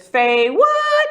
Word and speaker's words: FayWhat: say um my show my name is Faye what and we say it like that okay say what so look at the camera and say that they what one more time they